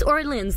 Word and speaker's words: Orléans: again or Leon yeah but it's it's Orleans like New Orleans yeah okay cool super